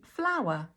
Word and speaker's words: flower: So item number one is a flower. Flower. Flower. And item number two is flower. Flower. These two things have exactly the same pronunciation in terms of the phonetics.